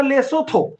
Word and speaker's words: লেসোথো: এই দেশের নাম হচ্ছে লেথ লেসোথো লেসোথো উচ্চারণটা লেসোথো এই লেসোথ এই দেশের